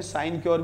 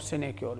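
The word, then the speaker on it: sinecure: तो इसके दो प्रोनाउंस होते हैं, साइन क्योर भी बोलते हैं और सिने क्योर भी बोलते हैं, साइन क्योर या सिने क्योर।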